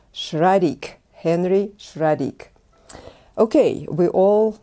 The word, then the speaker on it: Schradieck: german which that name is from it is pronounced sradik and not shraddhiyak as i oftentimes hear from my students no it's shraddick henry schradik okay we all know the exercises